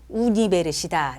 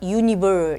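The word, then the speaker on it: universidad: 자, 여러분들이 잘 틀리는 단어 발음 우니베르시다. 그죠? 아주 익숙해 있어서 전부 다 유니버 이렇게 얘기하거든요. 절대로 유니버는 없어요. 스페인어는 우니베르 그죠? 소리 나는 대로 소 저 발음하시면 됩니다.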